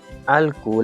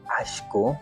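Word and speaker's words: alku: Sí, alcu. La escritura es tal como está aquí. A L k u alc. La pronunciación en algunos lugares, al menos en la sierra centro, lo dicen asho.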